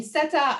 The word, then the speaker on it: Seta: name is seta yes it's not set i said yes but i made it easier but um so if i wanted to introduce myself my name is sato actually so it rhymes better you know it sounds nicer like a little bit italian vowel sounds but anyways um i'm